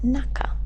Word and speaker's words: 中: the kun reading the kuny that's the Japanese pronunciation it's naka and when we add it as a relative